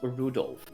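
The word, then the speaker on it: Rudolf: on it's just anyway the guy's name is pronounced Rudolph doesn't seem like he must hate grandfa for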